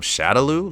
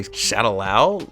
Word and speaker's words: Shadaloo: what and also also the mispronunciation of shadolu like they couldn't say shadolu right either they shadow lao they kept saying shadow lao like what like it